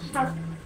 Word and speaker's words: half: কোন শব্দের শেষে যদি KFM থাকে, তার আগের লেটার যদি এল হয়, তখন এল সাইলেন্ট হয়ে যায়, যথা হাফ।